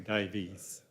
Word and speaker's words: Davies: It's actually Davies. It's a bit like the UK pronunciation of Davies. It can sometimes be called Davies.